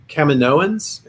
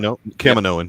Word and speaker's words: Kaminoan: and sort of the Kaminoans. Am I saying that right? Kaminoan, yeah. I say it wrong a lot, but it is Kaminoan.